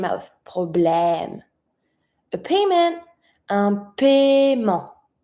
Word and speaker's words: paiement: A payment, un paiement. Paiement. Don't pronounce the E that you see after the I. It's mute.